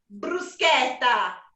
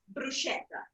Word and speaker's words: bruschetta: straight right here right now first off it's pronounced bruschetta not bruschetta next the tomatoes tomato bruschetta is the best